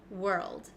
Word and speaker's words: world: go over this one we pronounce this world world okay let's go step by step because I know this one isn't the easiest so so if you